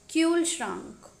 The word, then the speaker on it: Kühlschrank: U without umlaut is pronounced as U. But U with umlaut is pronounced as U. For example, Kühlschrank, which means a refrigerator.